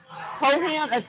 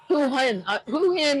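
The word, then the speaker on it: Hoi An: So I'm going to see Hohan. I always pronounce it wrong. Hohan? What is it? You don't know? Overheat. Hoo Hin is closer than anything.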